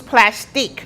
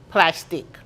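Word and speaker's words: Plastiq: So you can use plastic with a Q at the end.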